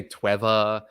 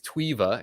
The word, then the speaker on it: Tweeva: you say tweeva yeah some people say Trevor uh it's tweeva it's it's made to sound a little bit like TV okay and uh we kind